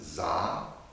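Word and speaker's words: Dza: This one is Za, D-Z-A, Za.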